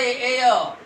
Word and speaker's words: heir: एयर, HEIR, हेयर नहीं है ये, हेयर की स्पेलिंग डिफरेंट है, ये डिफरेंट वर्ड है उससे, तो क्या बोला जाता है, एयर, तो एच साइलेंट है, ए की आवाज आई है, इसलिए एन,